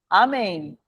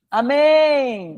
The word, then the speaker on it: amém: Vocês falam amém. Tudo bem? Oxítona. Sim. Amém. Não é amém. É. Amém. É oxítona, termina com em. Tem mais de uma sílaba, acentua.